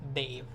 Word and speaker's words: Dave: Yeah, it's Dave, but the D is also said differently. So the better way to say it, better way to like spell it might be that. So Dave, but the D sound is the D. It's not like D sound as in Dave, but it's Dave. Like the tip of your tongue touches your teeth.